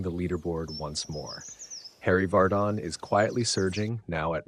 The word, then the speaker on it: Vardon: Harry Vardon is quietly surging, now at -1 through 13, matching George Duncan, who's off to a steady start.